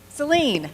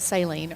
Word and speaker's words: Saline: And so if you're able to do good things here and silence no Seline. Thank you. Uh Monty pronounced it saline earlier.